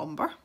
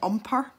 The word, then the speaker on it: umber: So yeah, I'm going to take some raw umber. Every time I say umber now, it reminds me of one of the bloopers when I said umper, as in rhymes with jumper.